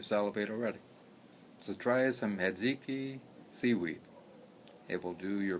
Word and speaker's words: hijiki: It's Hiziki, or in Japan, I think they spell it Hijiki, and it will do your body good.